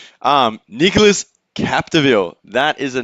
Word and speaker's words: Nicolas Capdeville: And Nicolas Capdeville from France in red. Way to go, Joey. Yeah, how's the Yeah. pronunciation? Good. Nicholas Capdeville.